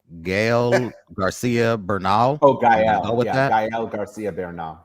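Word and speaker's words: Gael García Bernal: I don't know how to pronounce this young man's name. Gael Garcia Bernal.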